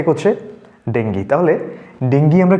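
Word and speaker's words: dengue: এখানে একটা সেন্টেন্স লিখলাম ডেঙ্গি has broken out ইন our town ঠিক আছে আচ্ছা প্রত্যেককে বলে দিই সে উচ্চারণটা কিন্তু সবসময় ডেঙ্গি আমরা ডেঙ্গু বলি অনেক সময় এগুলোকে আমাদের একটু ঠিক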